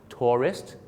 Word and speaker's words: tourist: ก่อ การ ร้าย terrorist 2 คำ นี้ มี เส้น บาง ๆ อยู่ นะ ครับ ใน การ ออก เสียง คือ พยางค์ 2 พยางค์ tourist นัก ท่อง เที่ยว กับ terrorist 3 พยางค ครับ ผม น่ะ กลัว กลัว